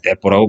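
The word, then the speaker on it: 鉄砲: 그걸 보고 뭐라고 하냐, 떼뽀라고 불러요, 떼뽀. 한자로 쓰면 철포인데, 일본 발음으로 하면 떼뽀 그러거든요.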